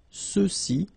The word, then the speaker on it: ceux-ci: And then for the masculine plural, ceux-ci, okay, remember final X is not pronounced, so you get the sound ce, ceux-ci, and then ceux-là, all right?